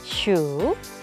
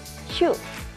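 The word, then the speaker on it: 数: 쓰임에 따라 발음이 달라집니다 1번 동사로 쓰여서 해다라고 쓰일 때는 슈 이렇게 삼성으로 읽어주고요 2번 명사로 쓰일 때는 슈 이렇게 자성으로 읽어주면 됩니다 2 다음 중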